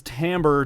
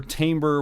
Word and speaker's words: timbre: he's totally changed his timbre timber whichever way you want to pronounce it for this specific performance